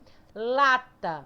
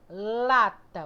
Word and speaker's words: lata: Lata, ó. Lata. O lá sai com mais força, então vai ser essa.